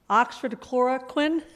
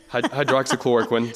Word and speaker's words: hydroxychloroquine: You may have to help me with this, the pronunciation of this drug, but have doctors at your hospital prescribed the Oxford chloroquine. Hydroxychloroquine.